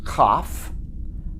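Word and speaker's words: כף: seem to fit yod next letter is cough cough it looks like a backwards c but written much larger to fill that hypothetical box and again it's never a soft sound or s sound but it is a hard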